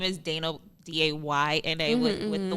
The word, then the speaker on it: Dayna: Y, even though that's not at all how it's spelled. Just because I would be like, it's Dayna, D-A-Y-N-A.